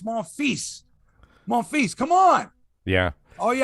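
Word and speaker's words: Monfils: do with that like i stopped you from mispronouncing it's like what's her name on tsn who kept calling gayle morphe and i'm like it's more feast monfies come on yeah all you have to do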